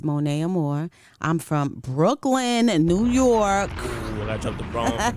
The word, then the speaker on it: Monia Amore: name is Monae Amore it gets tricky because it's spelled m o n i a but it's Mona Amore I'm from Brooklyn New